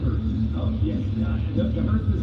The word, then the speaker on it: Hurst: Pronounced Hurst.